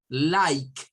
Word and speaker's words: like: La E no suena y esta suena a I. Like, pike, hike, bike, trike, mike. En todos estos el sonido es con una K, al final con una K y previo a ese un I.